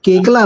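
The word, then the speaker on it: Koechlin: कल्कि केकला नाम है वो। लेकिन क्योंकि वो फ्रेंच वर्ड है। उसका प्रोनसिएशन बोले जब आप फ्रेंच में करेंगे वो केकला होता है।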